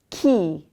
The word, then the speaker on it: chi: And the third, now we have a C followed by an H. Chi. Chi. Not chi. Un'altra volta, one more time. Chi.